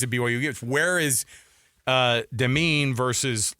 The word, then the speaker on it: Demin: Demin. Not Dolman.